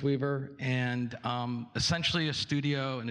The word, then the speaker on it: WEVR: It's pronounced WEVR, and essentially a studio and a distribution network for VR.